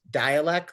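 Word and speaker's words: Dälek: But with the lot apparently it's pronounced dialect like dialect.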